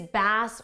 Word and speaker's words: bass: Now, I always forget if the musical context is bass or bass. It's bass, bass, bass.